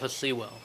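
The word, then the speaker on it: Sewell: vampire is the dude from dark city Ru seawell is how you say name roof the lazy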